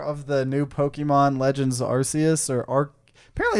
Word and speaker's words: Arceus: hours so far of the new Pokemon Legends Arceus apparently it's pronounced Arceus in English, but like if you watch Arceus, I don't know.